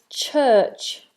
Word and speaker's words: church: Some of my students pronounce a CH as an SH. So some of you pronounce ch as sh. And that should never be the case. It should always be a plosive.